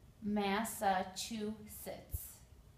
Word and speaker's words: Massachusetts: next is the state massachusetts it's kind of a difficult one to pronounce even for english-speaking americans there are four sounds four syllables mass ah two sits massachusetts here is the word